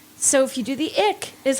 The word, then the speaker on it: IQ: it's supposed to be IQ but you don't pronounce the Q like a q in any of these other Fancy Pants names as they're doing all